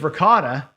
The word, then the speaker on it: ricotta: got the wrong right it's ricotta oh everybody else it's right if if you're Italian you're saying it right but yeah people it's